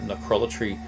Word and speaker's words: Necrolatry: So, out on Necrolatry Records. Yes, that's how you say it, Necrolatry Records.